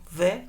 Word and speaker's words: Beith: A letra correspondente é o B, a pronúncia é bé, mas também pode soar como vé, com um V suave, então é entre um V e um B, é vé.